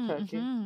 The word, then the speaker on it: Circe: And also you've got Circe to an extent, or Turkey, depending on your pronunciation.